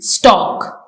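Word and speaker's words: stalk: टी ए एल के स्टॉक इसमें L silent है लेकिन ये स्पेल्ड किया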